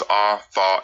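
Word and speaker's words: אתה: The triconsonantal root is a, tha, and ha, pronounced atha, which means to come, to arrive.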